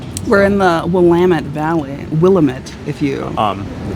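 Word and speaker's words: Willamette: Willetti, I've heard some people want to call it. That is not the correct pronunciation by the way. It's Wamtt.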